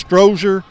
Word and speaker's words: Strozier: His name's Jeremy, and I think it's Strozier, and as far as I know, that's the way it's pronounced.